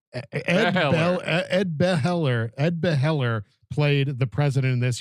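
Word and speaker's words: Begley: How do you pronounce that, Chris? Beller. Ed Beheller played the president in this.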